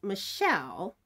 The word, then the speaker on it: Michelle: I'm shouting out is Michelle and I think it's kind of interesting because her name is spelled Michael with an e at the end but it's Michelle and her channel name